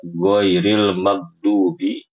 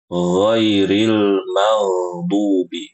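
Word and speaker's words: غَيْرِ الْمَغْضُوبِ: Jadi ibu-ibu jangan dibaca ghairil magdubi. Yang benar ghairil maghdubi. Huruf ghainnya itu mengalir.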